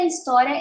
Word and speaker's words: história: Esta história eu garanto. Esta is. Bom, o H, ele é mudo em história.